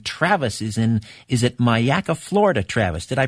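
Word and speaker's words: Myakka: line again in Travis is in is it mayaka Florida Travis did I pronounce that right yes you did Sir mayaka whereabouts is that in Florida uh it's a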